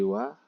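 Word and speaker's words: は: Sebenarnya kalau secara hiragana dibacanya h ya. H. Tapi walaupun tulisannya adalah h, terbaca wa karena ini merupakan partikel. Jadi partikel dasar yang kemarin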